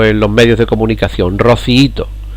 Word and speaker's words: rociíto: han hecho mal porque la palabra rociíto al ser un hiato de los que sí respetan las reglas de acentuación nos encontramos en esta palabra con fijaos cuántas sílabas rob sí y todo con cuatro lleva el golpe de voz en la y de rociíto en la segunda por lo tanto es